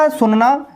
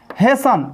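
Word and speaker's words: hasten: Concept 2, S plus T हो तो वहां पर टी साइलेंट होता है। जैसे लिसन, लिसन मिस होता है सुनना, हैसन, हैसन मिस होता है जल्दी करना।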